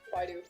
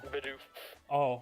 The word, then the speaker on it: Bidoof: No, I said Baidu. Oh, Bidoof. Baidu. Baidu. Yeah, sorry, I keep mispronouncing.